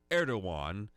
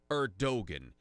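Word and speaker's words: Erdoğan: president of Turkey there, President Erdogan, or as I like to pronounce it, Erdogan, because that's how it's spelled.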